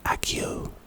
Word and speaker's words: Accio: Pronunciation A-Key O-A-H, key like a house key, and O-O-H.